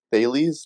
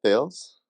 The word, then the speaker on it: Thales: thing no no worries it's dailies not Tales yeah yeah common like